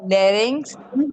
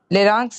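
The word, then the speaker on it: larynx: फिर बाद में और उसका बच्चा बात सुनो Rohan it's called लेरिंग्स फेरिंक्स। लेरक्स नहीं क्या है?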